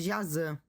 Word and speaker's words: Jaci: Uma curiosidade em línguas guaranis, o Y se pronuncia como ã, por isso tô chamando Jaci de Jazan.